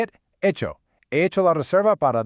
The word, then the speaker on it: reserva: He hecho la reserva para 2 a las 8.